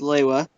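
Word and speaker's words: Lewa: yes TOA li hua also officially pronounced leila is the wild and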